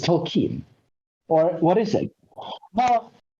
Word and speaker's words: Tolkien: I just know, all I know that is that you do not say Tolkien. You say Tolkien. So or something like this. Why it's not Tolkien? Because that's not how we pronounce it. It's Tolkien.